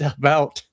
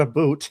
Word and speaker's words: about: So he says, not American, and I pronounce it about, not a boot.